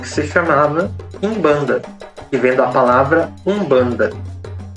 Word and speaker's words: Umbanda: com a palavra banda Lembrando que a palavra banda não tem o u em quimbundo pronuncia-se Umbanda Então essa era a